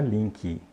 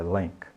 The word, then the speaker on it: link: Aliás, você notou a pronúncia correta de link? Não é link, né? É link, ok?